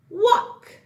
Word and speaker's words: walk: But here, it does not make this sound a or the sound a. Together, all these three letters say ock. Walk, okay?